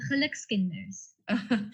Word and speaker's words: Gelukskinders: Is it Gelukskinders? Almost, Gelukskinders. Okay.